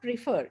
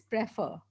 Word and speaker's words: prefer: Neerav, it is not prefer, it is prefer.